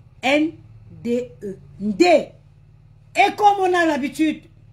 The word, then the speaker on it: Ndé: Ça s'appelle, ça s'écrit N-D-E. Ndé.